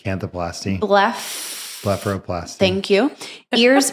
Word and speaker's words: canthoplasty: I can't pronounce that word. Canthroplasty. Canthoplasty.